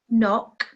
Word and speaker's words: knock: we spell them we have debt listen hour knock and answer did you pronounce those correctly well in each of these